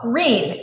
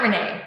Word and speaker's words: Renee: Oh, wait, I'm pronounced like green without the G. Oh, Reen, not Renee. Reen.